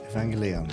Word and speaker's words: Evangelion: another can of worms first a g in Japanese Japanese is always a hard girl never a soft jug okay okay second e is always pronounced e not e and I is always e never I third the accent is probably best on the third syllable I.E Evangelion right Evangelion feel free